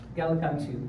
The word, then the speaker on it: Gallicantu: How do you pronounce that? Gallicantu, okay.